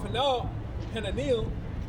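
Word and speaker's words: Hananeel: unto the corner gate, from the tower of Han Panil, that's how you say it, unto the king's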